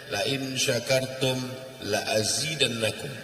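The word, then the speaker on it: لئن شكرتم لأزيدنكم: La in syakartum la azidannakum. Lamnya pendek. Kalau kamu bersyukur, aku tambah nikmatku. Tapi kalau dibacanya panjang, la in syakartum la azidannakum, tidak ku tambah.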